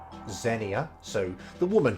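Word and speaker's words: Xenia: to you nano jose, the woman with the name pronounced or said like Zenia, so the woman called Zenia basically, ni wa kiyotsukerunda, take care.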